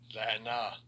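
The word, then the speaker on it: לַעֲנָה: It's pronounced Strong's H3939. La'ana.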